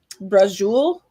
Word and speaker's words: braciole: But yeah, he made you ever heard of braciole? I have. Okay, so it looks like brocchioli, right? Yeah. That's how it's spelled. Mm-hmm. He made a braciole all day long.